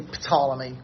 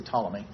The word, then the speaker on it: Ptolemy: The Greeks probably pronounce the initial P, but we don't do that in English. We don't say Ptolemy, we just say Ptolemy.